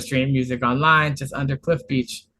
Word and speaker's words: Cliff Beach: And if you want to stream music online, just under Cliff Beach. Cliff like the cliff, beach like the beach.